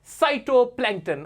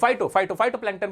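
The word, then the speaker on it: phytoplankton: और example of साइटोप्लैंक्टन, और वो फाइटोप्लैंक्टन बल्कि इसका प्रोनाउंसिएशन है फाइटोप्लैंक्टन के बारे में बताते हैं।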